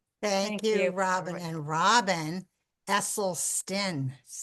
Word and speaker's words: Esselstyn: Eselen Stin. Oh, it is Esleston. Like where where you been? It's a Dutch name.